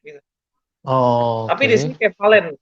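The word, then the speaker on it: κεφαλὴν: Oh, tapi di sini kefalen, bacanya kefalen, gonias.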